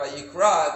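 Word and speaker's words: ויקרא: If you add the aleph, which is a silent letter, Vayikra, it becomes, and God called.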